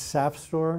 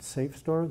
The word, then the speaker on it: SAFSTOR: in her grade grave its SAP Store and rhymes with SAP not safe store there's no either second